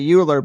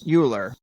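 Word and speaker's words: Euler: English I'm not sure I would say uler but Leonard uler yeah but I I might be wrong too but yeah this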